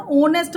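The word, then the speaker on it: honest: जहाँ पे इसको होनेस्ट तो नहीं बोलते ना, ओनेस्ट बोलते हैं, तो ओनेस्ट है तो यहाँ एन लगेगा।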